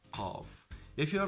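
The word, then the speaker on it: قاف: So it's more deep, it has an echo in pronunciation, it has more difficulty to pronounce compared to the letter Kaaf.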